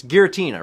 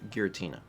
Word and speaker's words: Giratina: How do you read It's Giratina, right? I think it's with a hard G. Giratina. Or Giratina. Listen, let's just all be happy that we got to experience Cup 1.